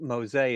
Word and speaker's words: Mose: Let me start off by asking the dumb question, which is why is it Fort Mosa and not Fort Mo? Well, it's Spanish pronunciation, you know. I I guess it got anglicized into Mo, but they have it